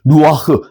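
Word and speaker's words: רוח: 따라서 루아흐 영어로 번역되기도 합니다.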